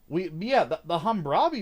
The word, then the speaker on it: Hammurabi: Yes, I actually know how to pronounce it now. The Hammurabi was in here, and it actually looked like a Hammurabi.